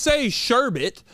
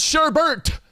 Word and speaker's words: sherbet: No, you don't say sherbet. It's sherbert. You don't say sherbet. That'd be changing it. Sherbert. It's Sherber. You don't say the T.